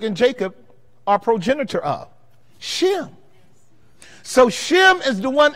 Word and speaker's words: Shem: So in the Hebrew, the H is silent. It's just Sim, Sim.